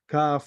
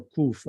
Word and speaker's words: kaf: Then we have the kaf, kaf or kuf. I like to pronounce it kaf.